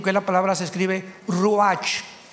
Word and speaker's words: ruach: Apunten todos ustedes, los que les interesa en su Biblia, la palabra espíritu, que la palabra se escribe ruach, R-U-A-C-H, ruach, que es la palabra espíritu.